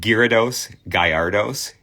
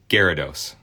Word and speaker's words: Gyarados: Johnny says the Y is silent. Gyarados.